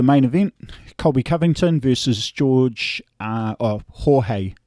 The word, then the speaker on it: Jorge: And so finally we get to the main event, Colby Covington versus Jorge. I say George, but it's the proper way to say it is Jorge Masvidal.